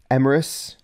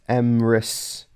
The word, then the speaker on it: Emrys: So, like, apparently the two D's, according to Luke, the two D's make a TH sound. So th. So Myrddin, as opposed to Myrddin. And Emrys is pronounced as Emrys.